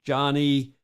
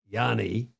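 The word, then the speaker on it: Johnie: with zero losses that's Johnny Yanni is the proper Swedish pronunciation Yanni barnon he is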